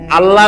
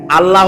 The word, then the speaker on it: আল্লাহ: বলেন তো আল্লাহ নয়। কিন্তু আল্লাহ হচ্ছে অশুদ্ধ। শুদ্ধ হচ্ছে আল্লাহ। বলার সময় মুখটা গোল হয়ে যাবে।